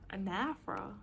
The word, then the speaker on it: anaphora: Anaphora? It's pronounced anaphora.